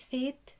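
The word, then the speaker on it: 셋: طيب هنا حاطين حرف الصا في الباتيم، طب حرف الصا مفروض بينطق صا، ليه هنا بنقول سيت كأننا بننطق الحرف ده، كأننا بنقول سيت حاطين الحرف ده. من قواعد الباتيم ان لما بيجي فيه الحرف ده حرف الصا بينطق كأنه حرف الطا ده، فبنقولها سيت سيت، يبقى هانا تو سيت سيت سيت سيت. يبقى ما تنسوش القاعدة دي، ان حرف السا لما بيجي في الباتيم بينطق كأنه حرف الدا، فبنقولها سيت.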